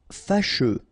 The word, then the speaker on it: fâcheux: Fâcheux. So final X not pronounced, and then you get your combination of U, E.